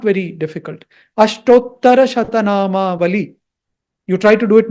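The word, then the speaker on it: अष्टोत्तरशतनामावली: They will find it difficult to pronounce it. But if you put a little effort, it is not very difficult. Ashtottara Shatanama Vali.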